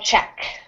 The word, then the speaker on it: Czech: okay yeah yes so which is strange because it sounds like the word check I get many mixups when I'm speaking here I yeah I thought you say check like this yes they they are pronounced exactly the same um I always I